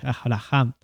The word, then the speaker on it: Abraham: Que la H, ¿no? En hebreo, ¿no? Sí. Se pronuncia como si fuese medio como una J, algo así, ¿no? Entonces, Abraham.